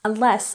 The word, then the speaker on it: unless: Next, we have unless, with emphasis on the second syllable, unless. And this means that something will happen unless another thing happens.